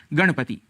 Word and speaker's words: गणपति: हैं उदाहरण के लिए गणपति ऐसा उच्चारण कर जाते हैं इसका शुद्ध उच्चारण है गणपति इसी प्रकार कहीं-कहीं हम